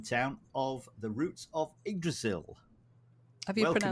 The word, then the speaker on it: Yggdrasil: We have Jeanette and Simon Town of the Roots of Yggdrasil. Have you Welcome, pronounced guys.